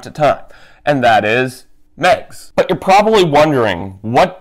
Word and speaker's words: Meigs: Here's how you spell Megs, as in to referring to Megatron's nickname. You spell it M-E-I-G-S, with a silent I.